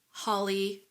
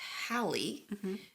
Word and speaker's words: Halley: read it was like it could be either rhymes with Valley daily or Crowley so it's like you